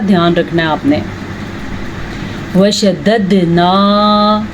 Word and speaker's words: وشددنا: رکھنا ہے آپ نے۔ وشددنا، پھر سے قلقلہ ہو رہا ہے کیونکہ دال کے اوپر ساکن آ گیا ہے، اور دال کے اوپر جب ساکن آ جائے، جیسے قاف پہ ساکن آئے قلقلہ ہوا ہے، اسی طرح دال پہ ساکن آ جائے تو بھی قلقلہ ہوگا۔ شددنا اسرہم، را کو